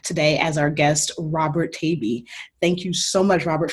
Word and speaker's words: Taibbi: It's Taibbi. Taibbi. Oh, it rhymes with baby.